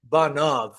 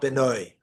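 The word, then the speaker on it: בניו: It's written without the yud, but it's pronounced banav, not benoi.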